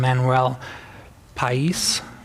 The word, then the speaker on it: Manuel Pais: And then again, the book I mentioned, Team Topologies by Matthew Skelton and Manuel Pais. That's how you pronounce it.